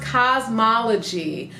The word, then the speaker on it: Kazmaleje: says those start with soaking wet hair it's pronounced cosmology cosmology brush it's got these huge grooves and